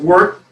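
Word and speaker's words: wort: o r t and the o has an e sound so it's pronounced work a german word and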